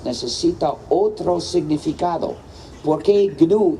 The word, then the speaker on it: GNU: de nuestro sistema, en inglés es muy importante pronunciarlo GNU, no seguir el diccionario, porque si dices the new system, te equivocas, porque nuestro sistema ya no es nuevo. Pero no es the new system, pero sigue siendo the GNU system.